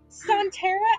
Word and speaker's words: Sontera: Am I the only one that's been pronouncing it correctly? I think so. Sontera, I named it after some Doctor Who aliens, so... Sontara, I keep wanting to call it Sontarans.